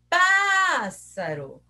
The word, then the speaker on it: pássaro: Pássaro. Qual que eu falei mais? O pá. Então, o pá é o mais forte.